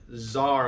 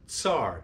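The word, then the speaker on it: tsar: it correct corly not Zar like z a r you don't pronounce it Zar you pronounce it tar TS a r tar and sometimes it's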